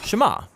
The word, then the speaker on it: Shema: is hear or listen which in hebrew is pronounced Shema the jews believe in just one God and